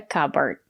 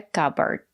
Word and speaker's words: cupboard: A cupboard. The letter P silent. We don't pronounce the letter P. A cupboard.